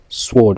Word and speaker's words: sword: mots qui en W, on ne prononce pas le W comme ça, on dit ça, on dit pas un S, on dit sword, on dit pas SW, on dit sword, c'est comme une épée sword.